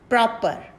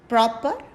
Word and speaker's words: proper: then we have proper proper proper r is again silent then we have skeptic